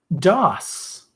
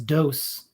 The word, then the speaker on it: DOS: with ibm pcs and microsoft that would be dos dos which could be pronounced as dose for the hint earlier in the question but